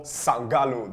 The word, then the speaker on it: Sangalooo: This is another episode of Sangalooo. That's how I pronounce it. How do you pronounce it? Sangalooo, bro, but either way you like it. Sangalooo.